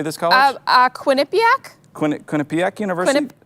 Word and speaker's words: Quinnipiac: Quinnipiac? Quinnipiac University? Quinnipiac?